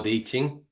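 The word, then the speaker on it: Te Ching: h i n g is that right but pronounced d Ching D Ching yes yeah yeah um so I'll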